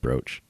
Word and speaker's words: brooch: It's pronounced brooch.